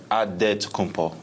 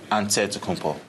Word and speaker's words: Antetokounmpo: The Nigerian way, you gotta say it with a D, so it's Antetokounmpo. But in the Greek way, you say it with the NT, like Antetokounmpo.